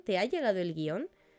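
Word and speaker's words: guion: Sin darnos cuenta, hay un hiato común que todos tenemos aceptado. Por lo tanto, lo coherente sería que si lo pronunciamos como un hiato, lo escribiésemos como tal. Y si aceptamos la norma de escribir guión sin tilde, nos esforzásemos por pronunciarlo así, ¿no?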